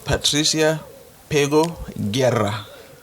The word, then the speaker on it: Patricia Pego Guerra: And today we have the ambassador of Cuba, Patricia Pego Guerra. Did I pronounce it properly?